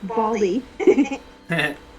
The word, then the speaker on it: Valdi: Come back, Valdi. That is your real robot name? No, in Spanish his name would be pronounced Baldi.